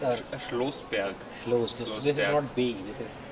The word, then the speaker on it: Schloßberg: Like Schlossberg or? Schlossberg. Schlossberg. This is not B, this is. Schlossberg. No, this is not B, this is S.